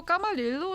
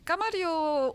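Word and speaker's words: 카마리요: 줄 수 있을까요 맞아요 저도 카마릴로 아고 발음을 하고 있었는데 뉴스에서는 카마리오 아고 하더라고요이 본투 바람인가 봐요 마리오 그러니까 그 아 그래서 사실 여기 카마리오 아울렛이 제일 유명한 지역이죠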